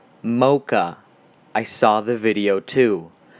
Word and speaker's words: xMoqax: I know it's pronounced Mocha.